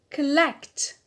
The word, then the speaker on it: collect: Collect, collect. So here the stress is on lect, on the alt.